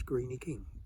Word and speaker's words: Greene King: say 'crinkley crankley', because they pronounce the 'e' on the end just the same way as they pronounce 'Greeny King' instead of 'Greene King' so that's the crinkle